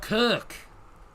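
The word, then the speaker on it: Köck: Vin Energy, which is uh Oh, Kirk. K O C K. But that's it's got the loud, mate. So, it's Kirk Kirk.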